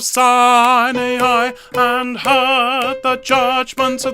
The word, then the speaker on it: Sinai: mount of sinai okay this is a really really tricky one to sing uh sign i please he stood on the mount of sign a eye and heard the judgments